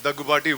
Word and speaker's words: Daggubati: अभी हम जाके I pronounced it correctly or not? Finally, after 13 years, they got my name right. It's Daggubati.